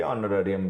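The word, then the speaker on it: honorarium: तो उन्हीं में भैया ये ऑनरेरियम भी है। ये एस से स्टार्ट हो रहा है वर्ड। लेकिन एच यहां पे साइलेंट लेटर होता है। उसको प्रोनाउंस नहीं किया जाता।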